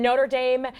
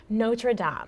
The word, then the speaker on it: Notre Dame: And then Notre Dame is okay for the Fighting Irish, but the French church that partially burned down is pronounced Notre Dame.